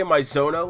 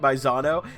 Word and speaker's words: Maizono: You know, hearing you say Maizono like that instead of the way we were pronouncing it, Maizano, makes my whole Mario voice I was doing for that character really disappointing.